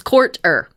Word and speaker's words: Courter: It's by Ashley Rhodes Quarter or Couture, or it's Courter, like it's how it's spelled.